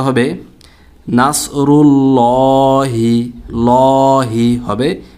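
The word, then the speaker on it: نَصْرُ اللهِ: এখানে আল্লাহ শব্দকে মোটা করে পড়তে হবে, আল্লাহ শব্দ লামটাকে মোটা করে পোর করে মোটা করে পড়তে হবে। এখানে বারিক বা পাতলা হবে না। তো উচ্চারণটা হবে নাসরুল্লাহি, লহি হবে, লা হবে না, ল হবে।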